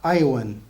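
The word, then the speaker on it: יָוָן: But since there was no J in Hebrew or E, or so Jevan, yeah. So it would have been pronounced Iowan.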